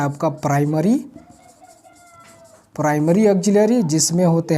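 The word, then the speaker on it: auxiliary: यस, आप ध्यान रखिएगा, इसका प्रोनाउंसिएशन ऑक्सिलरी है। हेल्पिंग वर्ब भी बोलते हैं, लेकिन लियरी लिखते हैं, बट इट इज़ ऑक्सिलरी।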